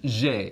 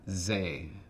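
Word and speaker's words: zhey: you address somebody, so you use the particle je, and then you say kloi. So it's je kloi. But it's very much je, it is very much not ze. That's why the H is there, you don't ignore it.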